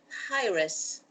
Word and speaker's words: Hiraes: uh it's lucas and brita britain lucas from hi-res i'm pronouncing it correct yes absolutely hi hilly now